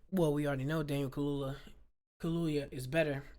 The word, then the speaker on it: Kaluuya: Daniel Kaluuya. No, Daniel Kaluuya is someone else.